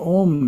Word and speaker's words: Om: The first syllable is Ah, pronounced as the English word Ah, but prolonged. Ah. Second syllable is oo as in roof, pronounced oo but prolonged, oo. The third syllable is pronounced with the front teeth gently touching and the sound prolonged.